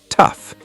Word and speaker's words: tough: Gh sound. Tough. T U F.